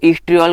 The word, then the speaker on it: oestriol: है जो ईस्ट्रियोल है, तो ईस्ट्रियोल को हम यहाँ पर ओ लगा के भी लिखते हैं। तो ओ वैसे साइलेंट होला है, कई जगह लिखा मिल